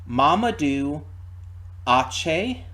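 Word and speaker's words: Mamadou Athie: Um, as for Mamadou, okay, here's how it's said according to Wikipedia. Mamadou Ache. That's what it looks like it's said on Wikipedia.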